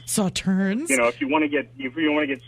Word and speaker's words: Sauternes: Sauternus. It's actually pronounced Sauternes. Sauternes.